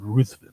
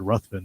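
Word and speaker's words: Ruthven: uh step with this Lord ruthin or Lord ruin depending on how you want to pronounce it who is ruthless right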